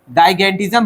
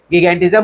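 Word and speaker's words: gigantism: मैं गिगेंटिज्म बोलता हूँ, कोई कोई जाइगेंटिज्म बोलता है, गिगेंटिज्म गाइगेंटिज्म बोलता है, आपको जो समझ में आए। जाइगेंटिज्म बोल सकते हैं, गिगेंटिज्म बोल सकते हैं, ठीक है।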